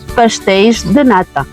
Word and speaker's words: pastéis de nata: Et tu peux dire au pluriel, pastéis de nata.